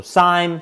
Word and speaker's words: SIEM: So SIME, SIM, depending who you talk to, they pronounce it different ways.